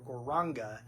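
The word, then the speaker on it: Gauranga: So why don't we say that together first of all just in the syllables. Gore. Raanga. Gore. Raanga. Now we can put the syllables back together and say it as the full mantra.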